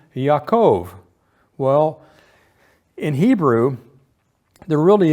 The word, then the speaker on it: Yaakov: So if you pronounced even Jacob with a Y sound, you would come up with Yaakov or Yaakov.